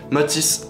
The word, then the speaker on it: Matis: Matisse, M-A-T-I-S 10. Donc il n'y a pas de H, il n'y a pas de T. Matisse, comme ça se prononce.